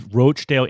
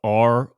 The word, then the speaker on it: Roachdale: and Molly This is roachdale Indiana because it's spelled r-o-a-c-h-d-a-l-e so it is absolutely roachdale yeah not Rochdale as